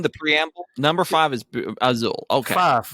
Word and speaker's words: Azul: well so i have azure i like the game it's how you pronounce it azul yes that's correct you may not like